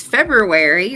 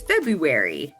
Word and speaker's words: February: Why is February written with an extra R and everybody says February? I don't say I say February.